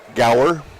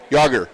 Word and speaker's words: Gauger: We're going to call it Gower. Yager. Gauger? Yager. He's a Nordic guy then. That's how we've always pronounced it.